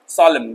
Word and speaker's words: solemn: इसको सोलमन पढ़ते हैं, एन साइलेंट कर दो, solemn, गंभीर।